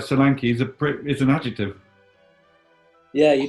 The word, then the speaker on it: Solanke: Dominic Solanke. Dominic Solanke. No more people with 3 syllables in the first name.